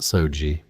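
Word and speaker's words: 掃除: Soji, pronounced Soji, it does not mean cleaning the way we understand it.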